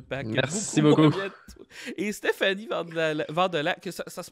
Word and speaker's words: Vandelac: Et Stéphanie Vandelac, ça se prononce tout de même ton nom? Ça se prononce Vandelac.